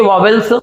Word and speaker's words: vowel: इनका correct pronunciation वॉवेल्स नहीं है या वॉवेल नहीं है। हम सभी लोग 95% से ज्यादा लोग वॉवेल ही बोलते हैं, इसका करेक्ट प्रोनाउंसिएशन है वावल।